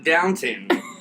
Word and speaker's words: Downton: my name is Downton it's only eight letters just as important okay Jenna rhymes with it rhymes with Mountain it's a mountain and